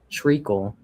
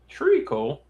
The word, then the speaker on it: treacle: So Google said this is how you say it. Treacle. Treacle. All right, now we know.